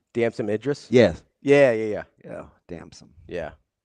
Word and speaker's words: Damson Idris: Damson Idris?